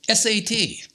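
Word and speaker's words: सत्: It's called SAT. Sat is how you pronounce it.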